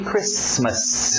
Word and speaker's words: Christmas: essa expressão aqui Merry Christmas o t é mudo não pronuncie esse T Christmas Merry Christmas Happy New